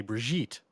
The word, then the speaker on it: Brigitte: that plays out but I think it's supposed to be a hard G like in her in